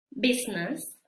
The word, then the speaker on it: business: vamos a saber que en estas palabras la i no se pronuncia vamos a pretender que no está que no existe la vamos a ignorar bien y estas palabras son business Friends muy bien el día